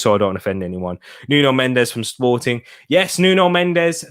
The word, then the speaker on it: Nuno Mendes: I'm surprised Wolves didn't go for Nuno Mensch, or that's it, Nuno Mensch. That's what the Portuguese. That's how you meant to pronounce it in a Portuguese accent.